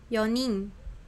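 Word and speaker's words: 四人: 1人 Hitori, 2人 futari, 3人 sannin, 4人 yonin, 5人 gonin, 6人 rokunin, 7人 shichinin, 7人 nananin. Hai, ijo desu ya. Demikian itu pengucapannya untuk jumlah orangnya ini.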